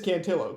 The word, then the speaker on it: Cantillo: the fact that like if you're pronouncing the name Cantio like in Spanish it would be Kantio, right? Not I mean, but it is Cantillo because it's a name.